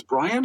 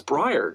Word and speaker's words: Briar: What, it's Brian? It's Brian. No, it's Briar.